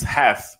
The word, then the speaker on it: have: The sound with the last syllable, this word have, is not more, is not have anymore, it's half with the sound F.